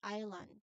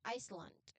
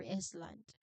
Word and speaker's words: island: Even though it's there in the spelling, we don't actually pronounce it. We do not say Iscland or Iceland.